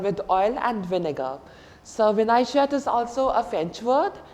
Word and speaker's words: vinaigrette: So vinaigrette is also a French word adapted to English. Vinaigrette. V-I-N-A-I-G-R-E-T-T-E. That's why we are pronouncing the T.